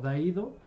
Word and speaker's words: Daido: hiromi chimoré llama pero como los caracteres se pronuncian exactamente igual de hiromichi se pueden leer como da ido entonces se le quedó